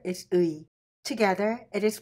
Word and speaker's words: 의: When these two vowels are used together, this compound vowels sounds 의. First letter is 문, second letter is 의.